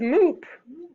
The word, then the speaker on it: moop: good word two is moop rhymes with hoop what word moop spell